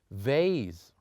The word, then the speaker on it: vase: The last word in the AE group, which is vase, not F, it pronounced as V.